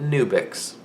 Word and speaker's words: NWBX: And I'm pronouncing it Nubix.